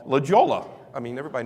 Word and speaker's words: La Jolla: of San Diego called La Jolla. I mean, everybody knows it's La Jolla, right? And I was calling it La Jolla for the longest time. For somebody said, "You idiot, it's La Jolla."